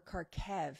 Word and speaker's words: Kharkiv: because i've never actually said the name of kharkiv or karkev actually is the correct pronouncer according to my research karkev probably wrong